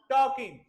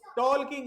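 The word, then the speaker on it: talking: किसी चीज को स्टॉप टॉकिंग टॉल किंग नहीं बेटा जैसे उसमें एल के साथ के इसमें भी ये नहीं बोला जाएगा जैसे वक में एल नहीं बोला जाता है टोक में भी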